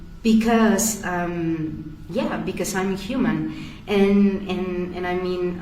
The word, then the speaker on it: hum: own um mantra and this mantra is hum okay it's h o O M. Okay. And the pronunciation it's like a U.